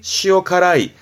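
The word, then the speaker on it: 塩辛い: 그래서 발음이 시오카라이, 시오카라이.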